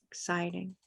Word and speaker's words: exciting: let's see you got you have the stress in the right place I can see this